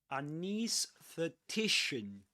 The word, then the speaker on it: anaesthetician: Another pronunciation is anaesthetician. You can say anaesthetician or anaesthetician. You can say both.